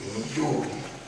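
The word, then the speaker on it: Youdi: Aujourd'hui, je m'appelle Yudi, le Y-O-U-D-I. Au lieu de N-Y-I, parce qu'il disait toujours Yudi, ou bien N-Yudi. Or, chez nous, on dit Yudi.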